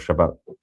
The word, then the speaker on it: Shabbat: But it's anyway, um, by the way, Shabbas is the Ashkanazi pronunciation of Shabbat.